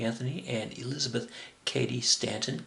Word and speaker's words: Cady: Anthony, and Elizabeth Cady Stanton. Cady rhymes with lady.